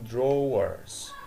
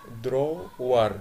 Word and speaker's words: drawer: drawer وفي نقطة شائعة خطأ اللي هو بعض الناس بتقول drawers. drawer في صوت الواو، لا ما في صوت الواو، المفترض بقول بقسمها مقطعين draw في الاخر كده ضمه زي حرف الاو كده نقطه حرف الاو وبحط الار على طول لازقه فيها فاقول drawer.